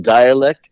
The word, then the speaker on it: Dyalekt: or Pockets change anywhere my name dialect is spelled d y a l KT because you know we got to be spelling things our own kind of way it's with a Y and a k rather than an i and a